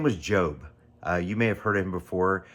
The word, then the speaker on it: Job: His name looks like Job in our uh language today, but it's actually pronounced Job.